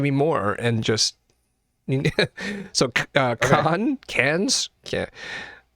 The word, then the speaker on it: Cannes: So, cans. Yeah. How do they pronounce it? Didn't we have a discussion about con is not pronounced con? Cannes Film Festival. Can.